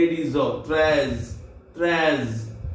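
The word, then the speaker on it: treize: Number 13, T R E I Z E, Trez. T R E I, Trez, Z is off, Trez, Trez, T R E I Z E, Trez.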